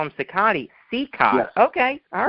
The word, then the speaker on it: Cicotte: His name was Cicotte. Was it really? Yes. I found many places where Eddie corrects people and says, my name is pronounced Cicotte.